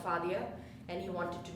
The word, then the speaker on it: Fadia: I'm either Claudia here or FIA here or fadia here or whatever but it's faia okay you can do it I I promise